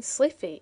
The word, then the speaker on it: slithy: The I in slithy is long as in writhe, and toves is pronounced so as to rhyme with groves.